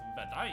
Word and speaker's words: Wutai: Pronounced Vedai in the Rukai language.